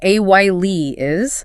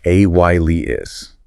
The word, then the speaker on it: alias: Our second word in this group is alias. Pronounced ay is ais. This is one where the spelling is maybe lightly deceptive for its sound structure. AY is it simply means a false or assumed name.